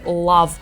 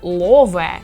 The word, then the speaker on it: love: Наприклад Це не проблема ви можете сказати Love але якщо ви скажете лове Чи лаве це вже буде не дуже коректно тому не намагайтеся позбутися